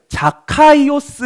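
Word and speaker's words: Ζακχαῖος: 바로 사 개 요 이것의 원래 발음을 자카 이오스 라는 뜻이에요 이름이에요 자기 이름의 뜻을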